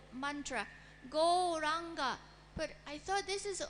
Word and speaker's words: Gauranga: are chanting 4-syllable mantra, Gauranga. But I thought this is only 3 syllables. Can you explain to us? Well, in the Chaitanya Charitamrita, it's written as 4 syllables. Ga or anga.